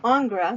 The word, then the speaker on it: Ingres: And so Ingres, which is how it's pronounced, again, French a neoclassical painter, considered himself